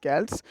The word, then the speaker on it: Celts: A deluge of invaders known as Celts, we can also pronounce it Celts, arrived on the shores of England around 500 BC, and those Celts were made up of numerous tribes.